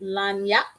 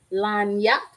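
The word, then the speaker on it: lagniappe: This is I believe this is a French word, and it's pronounced lagnac. Lagnac.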